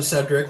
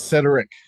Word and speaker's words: Cedric: It's Cedric. Cedric. My apologies. Sorry, I'm going to that warn you. That extra syllable would be very important to him.